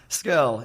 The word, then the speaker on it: Scurll: Scurll. It rhymes with, girl, curl.